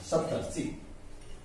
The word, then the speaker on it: सप्तर्षि: ठीक है, अब इसका र ऊपर चला जाएगा, सप्तर्षि। सप्तर्षि उच्चारण करेंगे, सप्त और ऋषि का संधि हुआ, बना सप्तर्षि।